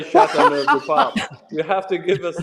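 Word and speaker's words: Châteauneuf-du-Pape: Please say Chateauneuf du Pape.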